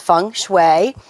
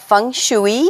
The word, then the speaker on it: Feng Shui: I give to everybody is that the correct pronunciation is Fung Shui not Fung Shui which is frequently what I get called about